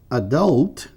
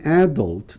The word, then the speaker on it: adult: Então, se você escolher falar adult, tá certo. Se você quiser botar a sílaba tônica aqui, adult, também está certo.